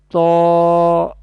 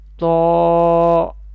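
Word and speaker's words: ط: Its category is Nitya, and it will be pronounced from the tip of the tongue and the roots of the upper front teeth.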